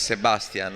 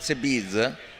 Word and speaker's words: Sebastian: So I want to go on record and say his name is Sebastian, and that's the correct name that should be used, and not Sebiz or Sbiz.